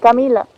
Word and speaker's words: Camila: En Italia se escribe con la doble L. Con doble L. Sí, que se pronuncia una Camilla, una L más fuerte, sí.